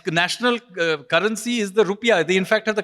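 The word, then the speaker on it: rupiah: Indonesia correct uh it's National currency is the rupia they in fact have the correct pronunciation not our rupe is actually the wrong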